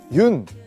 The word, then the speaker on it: 윤: 여기 보시면 흙이 있는데요 많은 분들이 아마 그 윤 이제 윤이라고 읽거든요 연이라고 읽으실 수도 있고 뭐 여러가지 방법으로 화백님의 성입니다 그래서 외국에서는 윤이라고 많이 부르기 때문에 제가 그 윤이라는 그